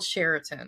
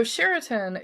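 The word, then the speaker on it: Chariton: For today's episode, it's going to be a town called Sherin. And if you want to look this up on the map, it's spelled C H A R I T O N, but it's pronounced Sherin.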